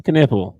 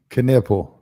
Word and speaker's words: Knueppel: And he said, "Con Knipple," just like the body part.